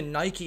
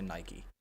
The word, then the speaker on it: Nike: and then someone was like, "Well, why do you say Nike instead of Nike?" Because Irish people say Nike. I'm like, "Yeah, because the Americans say Nike, and it's an American company, so you're right."